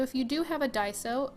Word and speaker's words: Daiso: look at so if you do have a die so it's spelled da I s Oh and they have